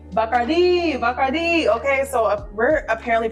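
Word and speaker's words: Bacardi: Bardi Museum or as they like to say, Bakardi. Bakardi. Okay, so we're apparently pronouncing it wrong here in America, guys. It is not Bikardi.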